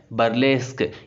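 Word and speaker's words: burlesque: और बर्लेस्क, इसको क्या प्रोनाउंस करना है? बर्लेस्क, ये भी पैरोडी का सिनोनिम है।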